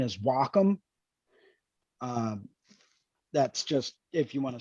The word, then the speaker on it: Wacom: On the East Coast, most people generally tend to pronounce it Wacom. It's the technical pronunciation is Wacom.